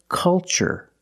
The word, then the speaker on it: culture: We see a similar spelling pattern. So the pronunciation, that's right, it's ch. The first word, culture. And the second word, cultural. Also remember the first syllable is a short U, like cup and up. Make a relaxed sound. K. Culture and cultural.